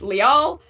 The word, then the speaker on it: Lyle: There's an NPC in another game, named Leal, spelled Lyle.